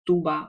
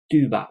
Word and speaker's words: tuba: we have two bar we don't say tuba we say tuba because the u sound is what belongs to that letter U and for each of